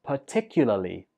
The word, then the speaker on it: particularly: Eight is particularly. Particularly. Stress goes on the second syllable, particularly.